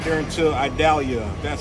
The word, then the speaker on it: Idalia: tomorrow so I'm gonna drive right there until idalia that's how you pronounce it so I died and pretty much